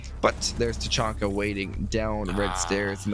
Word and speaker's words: Tachanka: I know it's Tachanka. Great. I love to hear the official pronunciation, but yeah, or the pronunciations of all the operators around the world.